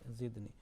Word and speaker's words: زدني: Okay, zidni. You made on dal there is a jerking sound on qalqala.